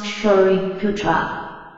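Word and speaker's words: Śāriputra: 十 Sariputra 舍利子舍利弗 pronounced Shariputra, a senior disciple of the Buddha, known for his wisdom.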